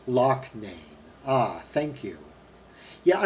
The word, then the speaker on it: Loughnane: Oh, pronounced Loughnane.